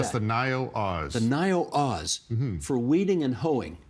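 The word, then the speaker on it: Naïo: me n AI o mhm how do you pronounce that that's the noo Oz the nio Oz for weeding and hoing now why is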